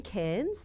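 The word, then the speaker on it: Cairns: at the Oz acpn in can's that's how you say it k in Northern Queensland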